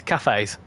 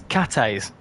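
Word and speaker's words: Cathays: but this next station I pronounced it as cafes it's not it's Cates apparently a lot of people said you don't actually need to have the H in it so it's Cates oh blow no out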